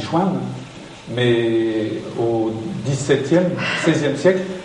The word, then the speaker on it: Chevennes: Quand on le prononce maintenant, on dit Chouin.